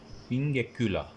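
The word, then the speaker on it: pinguecula: फिर हमारे पास होता है पिंगेक्यूला, ठीक है, पिंगेक्यूला, गेक्यूला, इस तरह करके इसकी प्रोनाउंसिएशन होती है।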